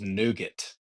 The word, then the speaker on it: nougat: Even though the correct pronunciation is nougat.